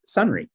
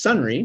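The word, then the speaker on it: Sonrai: data actually in Irish means or in Irish pronunciation of it is sunry so the the company name is sunry which means data uh in Irish and you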